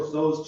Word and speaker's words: Tso: General Tso's chicken. You said it right. Jake says it General Toast chicken.